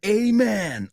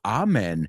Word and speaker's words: amen: Now give me an amen or amen hey you can pronounce it either way amen or amen and also you know